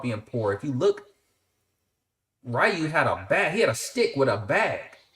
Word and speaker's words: Ryu: Y'all know Ken and it's pronounced Ryu, but we called him Ryu.